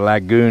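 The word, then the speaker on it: Lagun: It's a, I believe they call it a lagoon. It's spelled L-A-G-U-N table, and it swivels every direction,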